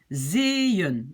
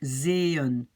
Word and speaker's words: zeeën: Vous voyez, donc en fait les 2 petits points, ça veut dire je commence une nouvelle syllabe, une nouvelle partie. Donc je prononce zeeën, zeeën, d'accord?